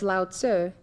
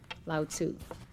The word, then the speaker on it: Lao Tzu: say that with me loud sir in the transliteration from Chinese to English the you answer was meant to be a short you so it's loud sir and not loud sue in Taoism the Dao